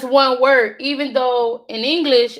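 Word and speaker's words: inglés: English. English. Oops. See what I just did? English. I'm so used to putting English. In Spanish, the E sound is the what we know is the letter I.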